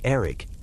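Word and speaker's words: Erddig: They had remembered their servants, Erdig, pronounced for those of you wondering something like Erig.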